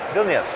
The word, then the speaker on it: Vilnius: a cooperative game for we play how you pronounce his name here in Vilnius Vilnius okay what's the theme of the game well